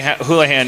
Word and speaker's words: Houlihan: Mary Houlihan. Am I pronouncing that right?